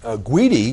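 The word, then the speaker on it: Gudy: get an email from guidy gu d y not mispronouncing that New York City headline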